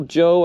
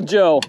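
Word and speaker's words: Jeaux: it's called a little Joe I think something like that Joe is spelled j-e-a-u-x this thing looks great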